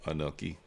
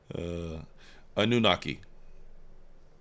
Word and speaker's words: Anunnaki: What are you going to do in Nephilim versus Anoki? Anunnaki. I got to say it correct. Got to say it correctly.